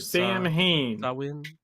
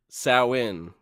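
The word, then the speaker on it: Samhain: that's what I do Mr Sam Hayne you just piss off a whole bunch of people when you do that which okay is the is the fun part of doing that sa in sa in that's how that's the supposed to be the the proper pronunciation um start it again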